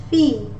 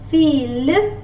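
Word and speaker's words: fille: In the word it is pronounced as F, fee. Remember, I just told you at the previous slide that I-L-L-E will not be pronounced as feel, rather it will be pronounced as I-E, which is fee.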